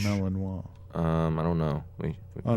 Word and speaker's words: Malinois: I think it's pronounced Malinois. It's French. Malinois.